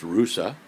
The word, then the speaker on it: Ruse: city called arusa it's spelled r u e pronounced rousa and this is the hotel we stayed at